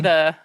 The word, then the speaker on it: Cillian: So Oh, is it I like pronounced to call him Killian?